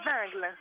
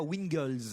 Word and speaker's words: Wingles: C'est Vingle. Vingle et non pas Wingles.